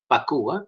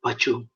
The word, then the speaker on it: pacu: pacu malaysia ompangel pachu actually super should be pronounced as pakuwa p-a-c-u is faku not pachu so this paku is